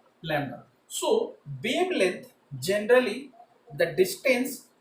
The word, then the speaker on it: lambda: So the first one is wavelength, which is represented as like this, which is known as lambda, which is pronounced as lambda.